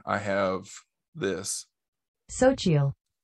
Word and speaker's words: Xochitl: Sochiel. That's how you pronounce her first name, because it's spelled Xochitle Gomez.